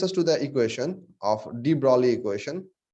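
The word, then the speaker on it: de Broglie: to the equation of d brauli equation the spelling is like this the g is silent the d value equation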